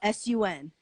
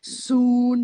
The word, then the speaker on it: Sun: a vein trying to pronounce her name like soon he like yeah and she would tell them that it's like sun like in the sky like